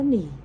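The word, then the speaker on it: 你: เขียน พี่ นิน ว่า n เสียง 3 อ่าน ว่า หนี่ อี้ จือ Y I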